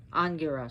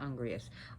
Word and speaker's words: Angiras: Agni, so Agni's associated with him, and his name was Angiras. Sorry, not Angrias. Angiras. I know it's spelled A-N-G-I-R-A-S.